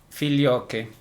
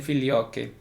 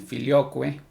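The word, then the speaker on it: Filioque: verdad repito tema el filio que bien en este tema del fil yo que que muchos también lo pronuncia en el filo cue cuando hablamos del fil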